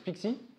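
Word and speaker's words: PKCE: Pixie pour les intimes ça se prononce Pixie et qui fonctionne comme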